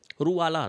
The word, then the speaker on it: Ruwala: एक सेकेंड, इसकी जो ट्राइब है इसका नाम स्पेलिंग है इसकी रूवाला, नॉट रिक्यूज, रोवाला ट्राइब है, रूवाला, RUWALA, रूवाला ट्राइब।